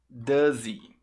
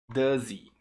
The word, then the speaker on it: does he: spanish does he tá você junta o som do Z o h fica mudo ess é um padrão que acontece Às vezes com o h nos pronomes ele fica completamente mudo você pega simplesmente o